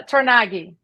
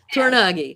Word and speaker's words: Tornaghi: want to mutilate it yeah that's fine uh tagi oh which is exactly how I would have pronounce it all right tagi I just want to make sure all these